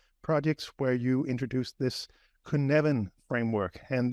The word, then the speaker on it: Cynefin: this kuneven framework and the reason I'm trying to pronounce it that way is because I've only known it on text for for so long and the way you write it is not how I would expect you to pronounce it and I think it's because it's a a Welsh word um so but but